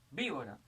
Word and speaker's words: víbora: Víbora es esdrújula, todas las esdrújulas llevan tilde.